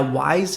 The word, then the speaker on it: Wyze: and smart lifestyle products now wise is spelled w-y-z-e and if we actually